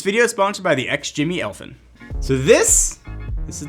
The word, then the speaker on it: XGIMI: guess you can ladies and gentlemen meet the ex jimmy elfin a small projector that packs a pretty